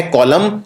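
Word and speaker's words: column: और बिल्कुल इसके मिलता जुलता शब्द है जिसको बोलते हैं कॉलम। कॉलम के अंदर भी आखिर में N आता है और इस N का उच्चारण नहीं किया जाता है। तो यह है कॉलम और यह है ऑटम।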